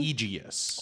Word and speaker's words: Egeus: Um in comes, is it Egeus? Is that how we say his name? Egeus. Egeus comes in.